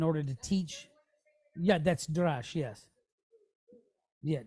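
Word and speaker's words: d'rash: Yeah, that's dash.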